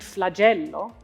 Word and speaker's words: flagello: In words like scompiglio and flagello, the stress will always fall on the second last syllable. Scompiglio, flagello. Be sure not to accent the last syllable.